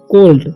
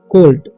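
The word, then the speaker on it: colt: जाएगा ओल्ट ठीक क्योंकि ओल होता है इसका उच्चारण ओ डबल एल का ठीक तो यहां पर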